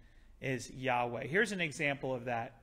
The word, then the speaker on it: Yahweh: tittle that's the yod they pronounce it like a y so that being the case yahweh just is more accurate it's not a sin